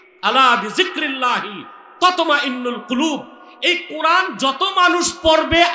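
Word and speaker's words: قلب: হ্যাঁ না, অনেক উচ্চারণ করতে পারে না, বলে কালব। কালব মানে কুত্তা, এটা হবে কল।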